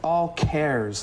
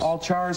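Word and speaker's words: AllChars: in windows today and i think it's pronounced all cares like characters c a c h a r s all cares all chars all cares yeah all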